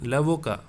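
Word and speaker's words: l'avocat: sorry point number one lavoca in feminine we have to say lavokat so lavoka so this here you should not pronounce the t but here you have to pronounce the t that is the difference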